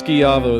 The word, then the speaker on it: Schiavo: It's Schiavo. That's spelled S-C-H-I-A-V-O, by the way.